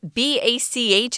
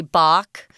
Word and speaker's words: Bach: is the way that ba CH is pronounced most people everyday people just say Bach but it's actually Bach cuz it's German kind of depends on